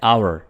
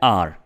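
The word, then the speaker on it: our: हमारा, हमारा की इंग्लिश है आवर। इसको नॉर्मली लोग बोलते हैं आर, जो कि बिल्कुल गलत प्रोनाउंसिएशन है, ठीक है। आपने इसको क्या बोलना है? आवर, आवर।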